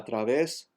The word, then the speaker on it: través: Que a través dels espais vers vosaltres compassives girem. Que a través, the accent is on ves, so the E remains the same.